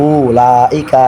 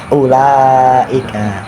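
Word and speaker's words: أولئك: Wawu dianggap tidak ada. Jangan ucapkan ulaika, tapi ulaika.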